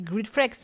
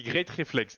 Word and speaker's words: Greatreflex: Peu- Parce que moi je dis Gridflex, mais je sais pas quelle est la. Comment tu le dis vraiment? moi je dis great reflex du coup.